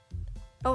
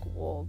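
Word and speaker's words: を: It also looks like wo, but it is said as o.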